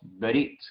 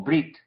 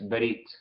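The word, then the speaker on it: ברית: Noten aquí que tenemos el Shewa sencillo al principio. Recuerden que dijimos que a veces casi no decimos el Shewa, muy rápido, apurada la pronunciación. Entonces decimos Berit, casi como Brit, pero es Berit, ¿sí?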